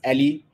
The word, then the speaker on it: a11y: You'd have seen the word ally in my title, pronounced Ali, where the 11, or